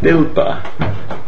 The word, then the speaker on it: dilpa: But there's no, it seems the reason it's pronounced dilpa in Urmi is because it's a kind of, this sound symbolism to express its smallness.